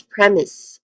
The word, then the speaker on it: premise: Second syllable is is premise is.